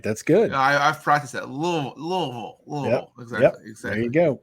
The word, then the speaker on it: Louisville: And you pronounced Louisville right. That's good. I've practiced that. Louisville.